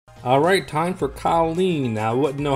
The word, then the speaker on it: Kolin: So this is Kolin, not Colin.